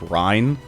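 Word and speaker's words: Reyn: now but shulk and rain are currently level 10 or sorry i should be calling him ryan people have uh told me his name is actually pronounced rine and i should uh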